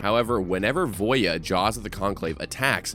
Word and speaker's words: Voja: murders at Carlo Manor this one is for Voya I believe it's pronounced I I was pronouncing it voja the last time I talked about it and